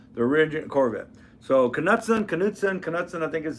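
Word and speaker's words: Knudsen: So, Kudson, Kudson, Kudson, I think is the how you pronounce it right. That's the head of I believe that the K is silent, but I never knew the man.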